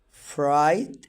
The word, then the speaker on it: fright: Jan rides his bike and hides behind rock, but he has fright at the sight. لاحظتوا الجي اتش هنا في الكلمتين ما تنطقوش، والاي هنا كانت ظاهرة.